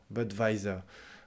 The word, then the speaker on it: Budweiser: voyais ça la bière budweiser bud weiser assez étonnant ça donc vous prononcez le w en anglais et nous on le prononce comme un v en fait budweiser je voudrais une